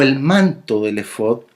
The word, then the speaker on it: efod: fonética hebrea original, porque así es como se pronuncia, efod.